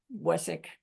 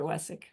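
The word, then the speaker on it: Vesak: And you know, it's pronounced Wessick. Somehow a W and a V mixed together. Wessick.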